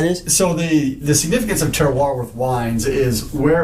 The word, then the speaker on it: terroir: And how do you pronounce it, Andrew? Terroir.